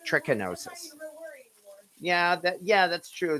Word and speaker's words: trichinosis: pork of course is trigonosis and i know i pronounced that wrong trichinosis yeah that yeah that's